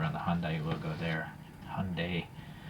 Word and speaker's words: Hyundai: the Hyundai logo there Hyundai I figured how Koreans pronounce it okay well anyways yeah